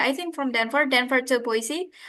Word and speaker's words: Boise: I just say it like, "Where's boys? Like boys? Are you going with boys like the kids? Like boys?" They're like, "No, no, boys." I'll tell you like that. Like I'm just showing my ticket to them. Oh, it's Boise.